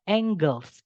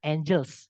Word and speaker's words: angles: Subjeknya adalah angles. Ini bacanya angles ya, bukan angels. Karena ini artinya sudut, bukan malaikat.